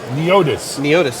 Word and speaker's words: Neotys: meeting you yeah so i mispronounced it it's it's neotis either way all right